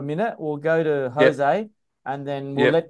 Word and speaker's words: Jose: J-O-S-E is pronounced Jose.